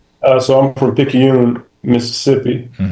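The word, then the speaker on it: Picayune: Uh so I'm from Pikune, Mississippi. Um that's spelled P I C A Yu N right in between Slidel and Hattisburg.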